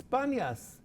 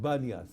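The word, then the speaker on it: Paneas: But actually it's Panyas. Panyas, yes, it's a P. Right, but they couldn't pronounce it, they said Banyas, you see?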